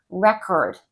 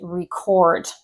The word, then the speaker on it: record: This is like saying record and record. The word is written the same. Record is the noun, record is the verb, or present and present.